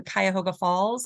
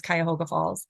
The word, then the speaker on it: Cuyahoga Falls: We played at this place called the Jinx Building in Cuyahoga Falls. I hope that's how you say it. I think it's Cuyahoga Falls.